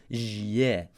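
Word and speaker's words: Җ: Well, the letter goes from being a zhe to a zhe. Listen to how the zh in its spelling sounds. It's almost like a d. Perfect, because that's exactly how it's notated phonetically. Zh.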